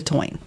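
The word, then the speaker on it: Táin: of of the Morgan the toin Bonia it's it's spelled t a i n the toin yeah yeah it's it's amazing and then there's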